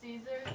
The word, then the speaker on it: Caesar: So should we refer to you as Caesar? The proper pronunciation is Caesar.